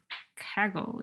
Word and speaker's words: Kaggle: open data closer to the kaggle approach do i pronounce it correctly yes yes and and i think